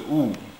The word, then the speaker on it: 悟: So it pronounced as a Wu.